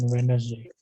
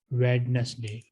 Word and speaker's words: Wednesday: If you pronounce it like people of USA, you will pronounce D, Wednesday. But if you pronounce it like UK people, it will become silent.